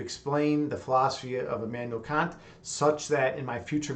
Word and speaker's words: Kant: you heard of him it's spelled k-a-n-t not uh not can't like the contraction but immanuel kant and